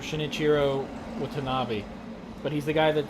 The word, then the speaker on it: Shinichiro Watanabe: I believe you pronounce his name Shinichiro Watanabe, but he's the guy that did Cowboy Bebop, Samurai Champloo.